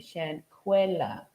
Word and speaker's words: Shanquella: couldn't have been um shankuela screaming and I apologize for pronouncing her name incorrectly um those last few days but um somebody corrected me Shan cuella all right shankuela Robinson that's who we